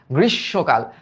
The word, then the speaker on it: গ্রীষ্মকাল: গ্রীষ্মকাল, কারণ মফলার কারণে কি হয় বলতো? দ্বিত্ব হয় এবং আনুনাসিক হয়। তাহলে এটার উচ্চারণটা হবে গ্রীষ, এই দেখো গ্রীষ, তারপরে কি গ্রীষ্ম, তারপর এখানে আমরা লিখবো কাল, গ্রীষ্মকাল।